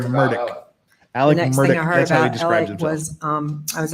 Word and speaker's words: Murdaugh: Day weekend yes and he pronounces his own last name murdick Alex is um I